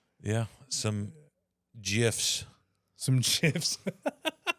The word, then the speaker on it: GIF: The original pronunciation according to the creator with a soft G like the peanut butter brand GIF.